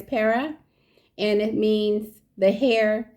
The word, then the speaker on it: Pera: it says perah see Pera p e r a and it's pronouncing it's pronounced per Pera you see the pronunciation